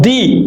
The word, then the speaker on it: the: pronounce it D and if that word begins with a with a consonant we will pronounce it the so now here in